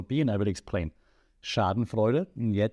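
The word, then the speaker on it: Schadenfreude: and I will explain Sharden fuder and yet that's how you pronounce it because it's a German word um social comparison Theory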